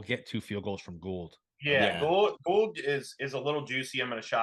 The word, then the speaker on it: Gould: gold I you know I always say Gould I had a I always said gold too yeah I had some friends that had that spelled their name the same exact way and they pronounced it gold um so forgive me Robbie if if I got it wrong um but yeah I I I read it as gold so um yeah I'm